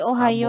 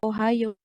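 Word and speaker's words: おはよう: Nah nih Ohayo gitu kan. Oh bisa U penulisan ya. Tapi kalau pelafahan Ohiyo. Kalau pelafahan oha yo seperti itu ya. Kalau penulisan bisa begini tapi pelafalan ohao bukan ohayo.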